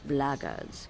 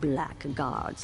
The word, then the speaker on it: blackguards: one of those blackguards. And that's the way to pronounce it. Not blackguards like that thug insisted it was.